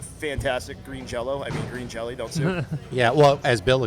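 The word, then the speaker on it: Green Jellÿ: Green Jello I mean green jelly don't yeah well as Bill explains it the Y has an umot over it thus making it pronounced like an O which is kind of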